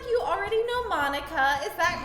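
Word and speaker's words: Monika: At least she's I'm sure it's little pronounced differently, but I like Monica. It's Monica!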